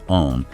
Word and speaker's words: Om: As you begin the sound, you start with the A sound, pronounced like Ah in father, originating deep from the navel region or abdomen. This A sound gradually transforms into the U sound, like oo in flute or U in put, as the vibration rises